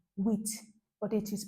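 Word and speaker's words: huit: sweet it is spelled here h ui t with but it is pronounced wit that's why I use the examp your wit your wh h e a t in English language eight with nine nerf nerf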